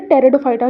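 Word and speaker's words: Pteridophyta: ये P silent है, टेरिडोफाइटा read करते हैं।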